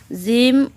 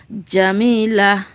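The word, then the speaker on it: جيم: জিম উচ্চারণ কেমন হবে? জিম জিহ্বার মাঝখান থেকে শক্তভাবে আদায় হবে, নইলে জাল জা অথবা জ অক্ষর আদায় হয়ে পড়া হারাম হয়ে যাবে। খাড়া বাঁকা চিহ্নের এই জায়গায় সাবধান হও, জাল জা অথবা জ অক্ষর আদায় হয়ে যেতে পারে।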